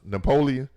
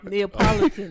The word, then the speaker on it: Neapolitan: Hey, what we call the ice cream that they couldn't pronounce? Napoleon. Yeah. Neapolitan.